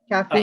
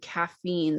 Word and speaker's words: caffeine: you Michelle caffeine caffeine caffeine they're the same caffeine is great I'm trying to think how did English with Kim she had a different way that she said caffeine that was said I'm looking caffeine she said